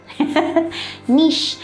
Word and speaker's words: niche: Niche. So the spelling is N-I-C-H-E. It's pronounced as niche.